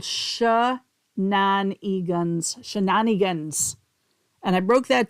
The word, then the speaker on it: Samhain: So it was a big bonfire and these were called shaan shenanigans. And I broke that down because it's not spelled that way. It's spelled s a m h n a g- a n.